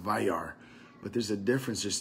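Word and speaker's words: וַיַּרְא: It's about the word Wayar, and Wayar spent it's pronounced Vayar, but there's a difference.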